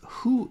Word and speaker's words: hoe: Okay, that's who is... Hoe gaan dinge? Okay, how is who? I need to write that down. So, H-O-E is pronounced who, but is how.